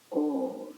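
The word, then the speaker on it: ॐ: Homogeneous blend of A and U is Om. So Om, when you pronounce Om, you must be feeling still that it is A and U. Both A and U together at the same time, in the same place.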